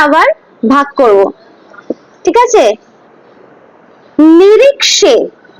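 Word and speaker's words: নিরীক্ষে: নিরিক্ষে, খ হয় না, নিরিক্ষে, ঠিক আছে, মানে এন আই আর আই কে এস ই, নিরিক্ষে, নিরিক্ষে, খে হবে না, নিরিক্ষে হয় না, হ্যাঁ, নিরিক্ষে, এটাই হচ্ছে কি উচ্চারণ, আসল উচ্চারণ সংস্কৃতে।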